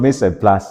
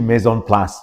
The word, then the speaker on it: mise en place: It's not Mise en place, it's actually maison place, right?